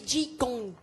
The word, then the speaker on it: qigong: Ouais, je vous ai un peu planté parce que ça s'écrit QI et ça se dit Qigong.